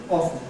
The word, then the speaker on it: often: of the people thought it ought to be with no / t /, that was a better pronunciation.